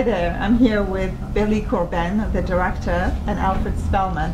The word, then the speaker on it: Corben: Because you put the accent on the second syllable. Corben. Most people put it on. No, it's fine. I like it. So how do you say it? Corbin. You just it's just with it.